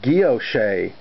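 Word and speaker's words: guilloché: inside of the locket that's called Gyo Shea and it's spelled like Gillett shet if you ever see it it's a French word it means engine-turned and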